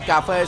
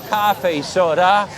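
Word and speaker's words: cà phê sữa: We say cafe soda soda. Soda. One of the first things you might want to do in the morning in Saigon is have some cafe soda. That's the way they pronounce Vietnamese coffee.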